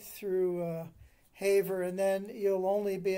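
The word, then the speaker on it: Havre: it's problem it's the hav branch of of Haver is spelled ha A V re by the way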